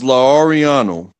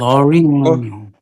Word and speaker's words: Lauriano: No, the man's name was Lauriano, and I will never be L'Oriano. I will never be able to pronounce it the way he pronounces, but it was Lauriano. It was like L'Oriano.